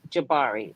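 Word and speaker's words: Jabbari: On March 25th, Grace Jabari, which is her name, everybody say her name. Stop Great saying Shibari.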